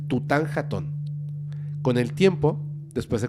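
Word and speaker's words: Tutankhatón: chico se llamaba tutan jaton Okay así se pronuncia tutan jaton con el tiempo después de convertirse en faraón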